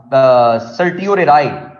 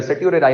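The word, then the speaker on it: certiorari: वो कभी कभार टी साइलेंट हो जाता है, वो नाम आपका चेंज हो जाता है, वो सर्टियोरेराई उसको बेसिकली वो कहते हैं।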